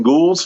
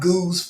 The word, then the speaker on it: Goulds: In Goulds, Florida. No, you said it wrong. That's how no one will consider you from there. It's pronounced Goose, Florida.